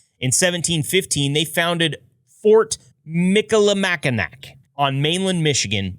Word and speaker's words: Michilimackinac: In 1715, they founded Fort Michilimackinac on mainland Michigan, which included a silent C pronounced with the AW.